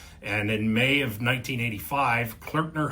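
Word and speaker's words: Klöckner: And in May of 1985, Clerkner Humble Deuts, yes, that's how you pronounce that. Shout out to Kevin on our marketing team for teaching me how to say clerkner.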